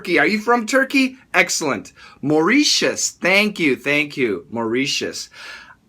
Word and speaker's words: Mauritius: Mauritius. How do you pronounce that?